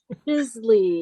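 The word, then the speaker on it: giclée: does that on a commercial how do you spell it i i know i spelled it g-i-c-l-e-e oh i was right it's juicy the third place in knoxville that does it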